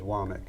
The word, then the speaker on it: Womack: some books, but I wasn't sure of the pronunciation, so thank you. he says Womack.